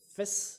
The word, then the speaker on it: Vis: If you remember our sermon last week by Pastor Vis, I would call it Vis in Dutch because he's Dutch. V is pronounced as an F, so F, Vis, means fish.